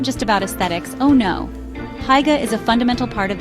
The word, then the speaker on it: hygge: Hygge, pronounced hygge, sort of.